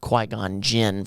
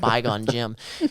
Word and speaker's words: Qui-Gon Jinn: that came about was i just didn't know how to say the word qui-gon jinn from star wars i kept calling it bygone gym and i've forever credited